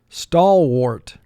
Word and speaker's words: stalwart: The first syllable is stall. 4 sounds. S, t, aw, ol. Wart. 3 sounds. W, or, t. Stalwart. Mark the word. Stalwart. A is representing its extra sound here.